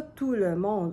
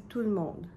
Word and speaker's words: tout le monde: On ne prononce pas tout le monde, on dit tout le monde.